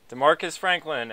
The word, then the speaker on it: Demarcus Franklin: Tonight, we are interviewing Demarcus Franklin. Is that correct? Did I say it right? Yeah, that's correct. Demarcus Franklin, and we're going to get into some of